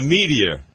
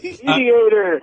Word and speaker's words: mediator: Me a medteor. No, it's a mediator. A mediator.